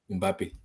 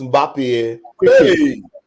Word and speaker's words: Mbappé: How can you have two consonants in your name, like two consonants back to back? How can I pronounce that? The way they pronounce Mbappé, quick, everybody, quick. Oh, quick, because they know the guy is good. They learned how to put M and B because normally they can't pronounce M and B in the same together.